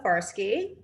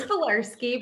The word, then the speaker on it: Falarski: guest with me farske can i say your last name wrong it's velarsky but that was close you know at some